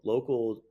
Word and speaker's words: LOCL: And so Local just launched a month ago on the App Store, and it's spelled LOCL, the community app.